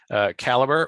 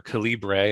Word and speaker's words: calibre: scrivener initially either so what do i use caliber or calibre if you're my friend who pronounces it that way is a book conversion